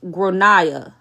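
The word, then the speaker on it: Gráinne: that the kid is called grainy gr generally pronounced gronia oh okay that's that's that's what that don't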